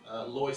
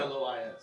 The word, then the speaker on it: Lois: Lloyd. Lloyd, hello. Makia Edwards. Makia, and was that Lori? Lloyd. L-O-I-S.